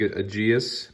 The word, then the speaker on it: Aegis: I think AEGIS memory is how it's pronounced.